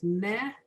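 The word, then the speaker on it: מֵ: Those 2 dots are a long A as opposed to the 3 dots, which is the eh. Okay? So the third word in line 9 is meh, may.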